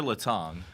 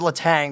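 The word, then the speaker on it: Letang: I want to ask is it leang or Laton Laton I actually everyone thought it was lat Tang but I'm like it's spelled the same way like Chris lat Tang for the Penguins I always I was thinking about that there's actually apostrophe and is there an apostrophy on the l apostrophe E Yeah is there an apostrophy on his jersey yeah L elong is how it's like like phonetically put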